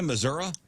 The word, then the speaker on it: Missouri: and slacks does anybody in your family say Missour hell no if I'm wearing overalls you say